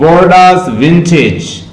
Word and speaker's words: Bordeaux: Fro Bordeaux ward while that the chapman sleep of Bordeaux, Bordeaux, Bordeaux, इसकी pronunciation है Bordeaux, लिख लें Bordeaux की इंग्लिश, ये Bordeaux